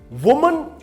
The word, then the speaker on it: women: WOMEN, इस वुमन को वुमन नहीं बोलेंगे, बल्कि क्या बोलेंगे? विमेन, विमेन, वुमन एंड विमेन।